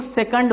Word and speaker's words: सेकंड: ठीक है, हिंदी में इसको सेकंड बोलते हैं। ठीक है, सही उच्चारण यही है।